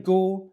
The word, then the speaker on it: Goole: for eva smith's death his name also sounds like the word gaul if you say that